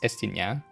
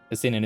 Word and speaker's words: Estinien: And you know, like the French pronunciation is Estinien. And I mean, most of them are pronounced French, even in the English VA, right? So, but okay, whatever. Estinian is more of a English pronunciation.